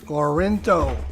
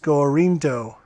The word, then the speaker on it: Gorinto: JT seems to be pronounced Gorinto, as in the Greek city-state Gorinto. Gorinto? Something like that.